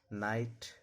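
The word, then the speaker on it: knight: नाइट नो नी यानी के का उच्चारण नहीं होता।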